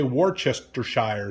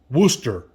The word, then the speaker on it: Worcestershire: I used to say Worcestershire sauce. It's actually pronounced Worcestershire sauce.